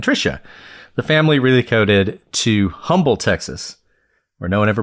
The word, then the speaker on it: Humble: Have you ever been to Humble? Okay. Been to Humble? I was just about to. So it's not pronounced humble. It's pronounced really humble.